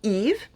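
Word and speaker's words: Yves: y e v s you do not pronounce the s it is eve i know in english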